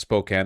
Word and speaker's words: Spokane: It's pronounced Spokane, FYI.